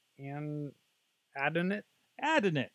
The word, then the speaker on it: Adonit: to us from I'm guessing they're they're actually pronounced an Adin it Adin it addin it ad it so they're a maker of lots